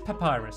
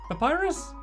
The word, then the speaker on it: Papyrus: Oh, it's not Papa. I always said his name wrong, didn't I? Let me read it again because everyone corrected me if I had to say his name right. Papyrus. Pap is it? No, it is Papyrus, isn't it?